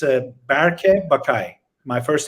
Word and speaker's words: Bakay: are doing a pretty good job it's uh bakay my first name is berkey and last name